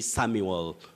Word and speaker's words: Samuel: say samwell s-a-m-w e-l-samwell but when you have that uel you say samuel very tricky just like